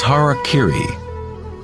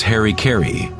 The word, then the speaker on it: harakiri: suicide or seppuku with harakiri was often mispronounced as Harry Caray it means to impale